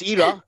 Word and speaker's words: Ira: she spent a whole life telling idiots like me to, it's a simple three-letter name. It's like Jai. You can't pronounce Jai wrong. It's really easy. So it's Ira. Everybody get that right.